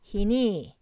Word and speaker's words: hini: mountain mighty pronunciation is hini with the stress on the last syllable that is the last part of the word is pronounced louder konkau pronunciation is hinny